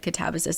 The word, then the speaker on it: Katabasis: I remember when everyone was really excited for Catabasis and then RF Kuang did one interview where she said catabsis and everyone panicked. So, um I know that either way I'm not pronouncing it correctly, but um catabsis is how we're going to say it now.